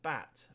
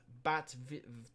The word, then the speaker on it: Bad: could be an issue bad is pronounced bat bat bat vibel they've gritted the